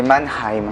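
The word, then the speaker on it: Mannheim: name ah oui les abonnés nous ont dit que ça se disait manhe on m'a dit il fallait prendre le enlever le ha on va l'écouter ah quelqu'un nous l'a dit si jamais se prononce mheim c'est ah j'aurais pas dit Manheim tu vois c'est Manheim Manheim on s'est vite rendu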